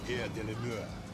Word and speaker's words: Air de la Mer: You gotta say it like that, like you French. Air de la Mer.